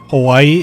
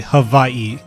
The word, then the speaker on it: Hawaii: And here's the thing: we don't say the correct pronunciation of Hawaii is actually Hawaii, Hawaii, with a V.